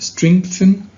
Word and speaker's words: strengthen: that people face, and strengthen their sense of social responsibility and compassion. By the way, we pronounce this word as if there was a K letter after the G right here.